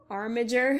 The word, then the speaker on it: Armiger: I'm sorry, I apologize for my pronunciation. Buoyant Armiger style can be obtained from treasure chests and treasure maps across Vardenfell.